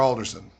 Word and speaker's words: Alderson: So pronounce it correctly. Is it Alderson or Alderson?